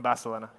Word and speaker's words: Barcelona: Because people from Catalonia just pronounce it Barcelona, no?